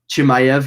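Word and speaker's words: Chimaev: one of the night for me uh uh chimag i don't know how to say his name i forgot how you say his name chimayev yeah thank you uh he was coming in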